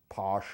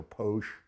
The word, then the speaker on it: pox: couple years ago now the bottle says pox but it actually is pronounced posh or posh and uh it's a